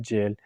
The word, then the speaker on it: gaol: सर ये जो GAOL है इसको बाद लोग गाउल कहते हैं, लेकिन इसकी मैंने काफ़ी दफ़ा प्रोनाउंसिएशन चेक की, ये बनता है जेल।